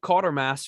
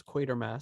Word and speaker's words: Quatermass: I pronounced it Quatermass for 30 years before people corrected that as Quatermass.